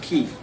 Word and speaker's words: Chi: like it's not like Chi though it's pronounced key and and when you